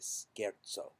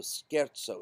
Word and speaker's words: scherzo: e r z o z is pronounced as TZ and S C is pronounced as an SK Scaro so skaro is this word it